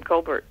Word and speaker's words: Colbert: you know his mother his whole family pronounces their name Kolbert yes yes even as